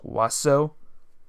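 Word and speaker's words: oiseau: it in consider the French word oio it's pronounced waso my gosh my goodness well if you insist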